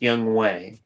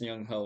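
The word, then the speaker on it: Younghoe: I believe it's pronounced Young Way. No, it's Young Ho. I asked him.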